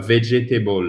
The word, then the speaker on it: vegetable: A vegetable, c'est pas a vegetable, d'accord? C'est a vegetable. Yeah. Faites bien attention. Le deuxième E, il saute. Vegetable. Il faut bien mettre l'accent tonique sur la première syllabe.